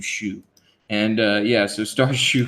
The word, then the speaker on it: Xu: I guess you pronounce that is XU Shu.